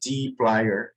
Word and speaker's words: dplyr: I did my research and it's pronounced dplyr.